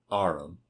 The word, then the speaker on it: arum: He pronounced it arum.